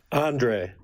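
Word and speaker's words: Andrej: Andre. Andre with a silent J.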